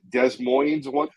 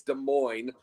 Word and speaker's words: Des Moines: I called Des Moines one time.